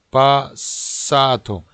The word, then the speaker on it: passato: 액센트가 뒤에 붙어서 perché del passato, passato. S가 두개 있기 때문에 되게 발음을 하셔야 되고요.